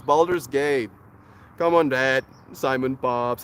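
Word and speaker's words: Baldur's Gate: saying it wrong like no Dad it's not Battleground it's balder's gate come on dad Simon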